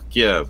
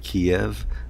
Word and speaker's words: Kiev: He pronounced it Kiev. Therefore, many years later, I pronounce it Kiev as well.